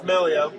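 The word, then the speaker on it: Meglio: me about Megalo knives well it's melio but uh yeah I started this company like if you're gonna put a g in something expect a hillbilly like me to pronounce it incorrectly for the Italians out there but it's not a it's not a hard dream so just think that it's not there Malia gotcha but yeah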